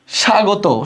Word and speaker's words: স্বাগত: স্বাগত শব্দের শুরুতে বফলা থাকলে বফলা উচ্চারণ হয় না, যেমন দেখো ত্বক, তারপর স্বপ্ন, স্বদেশ, এগুলোতে কিন্তু ভাই বফলা উচ্চারণ হয় না। তাহলে এটা স্বাগত বলি না, আমরা বলি স্বাগত।